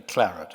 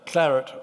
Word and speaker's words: claret: First Choice in Bordeaux I'm going to say Claret actually because it's U two shorter syllables uh clarit what what does clarit